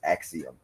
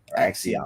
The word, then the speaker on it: Axiom: But yeah, you said it right. It's Axiom. Axiom.